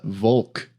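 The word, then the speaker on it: Волк: So how And I'm would you learning, pronounce bonk now? It's Volk, because What? B makes a V sound.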